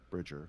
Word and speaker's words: Bridger: that you play private Brit or whatever he is Bridger Bridger sorry I pronounced it wrong he's a criminal he's